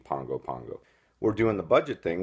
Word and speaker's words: Pago Pago: Samoa PA Gopa Geo looks like Pago Pago but they pronounce it like an ng Pongo Pongo we're doing the budget